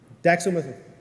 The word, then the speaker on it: dextromethorphan: Dextromethorphan. Did I pronounce that correctly? Dextromethorphan.